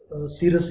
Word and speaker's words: cirrus: Clouds आ रहे हैं इसमें जो सी से स्टार्टिंग है उसको सीरस ही करना है, तो ये सीरस होगा, और ये सीरो स्टार्टस होगा, और ये सीरो क्यूलम्बस होगा। इसको सी को का की प्रोनाउंसिएशन में नहीं जाना है, it doesn't give the sound of ka, it gives the sound of sa।